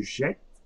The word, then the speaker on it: jette: So je jette. So I'm not pronouncing the final E.